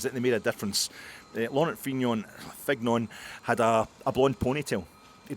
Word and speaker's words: Laurent Fignon: Okay, we'll go with the kind of English phonetic pronunciation of Fignon.